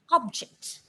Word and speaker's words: object: So when this word is used as a noun, you pronounce the word is object.